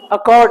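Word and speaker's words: accord: क्या है सर अकॉर्ड ए सी सी ओ आर डी अकड are silent है again अकड अकॉर्ड का मतलब क्या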